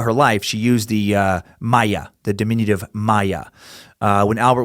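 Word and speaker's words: Maja: stuff to figure out how to pronounce a Maya spelled with a J M aja I ended up finding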